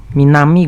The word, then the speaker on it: 南: Kunyominya minami, onyominya nan. Sama kayak tadi, sering muncul sendiri kalau di soal N5, atau ditempel sama kuchi, minami guchi.